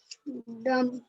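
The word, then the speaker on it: dumb: डम, डम। डम्ब, डम, ठीक है, यहाँ पर बी साइलेंट होगा, क्यों? क्योंकि बी लास्ट में आया है और एम उसके जस्ट पहले है।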